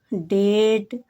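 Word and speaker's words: date: डी को डा पढ़ा जाएगा। ए को ए की मात्रा, क्या होगा डे और ट डेट, डेट डेट।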